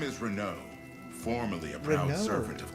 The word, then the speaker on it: Renaud: His name is Renaud, formerly a proud servant of Queen Elenia. That's how you pronounce that.